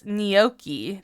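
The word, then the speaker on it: gnocchi: I'm going to go look up how they pronounce it oh it's neoki that's how you say it oh how to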